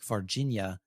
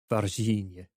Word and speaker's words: Varginha: So I have a Brazilian friend who labored for hours to try to teach me to pronounce it properly. And it's something like varginha.